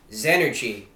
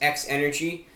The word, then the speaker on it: XEnergy: energy drink report and today we'll be reviewing zenergy i was going to present uh you know pronounce it as x energy but no the correct pronunciation is as energy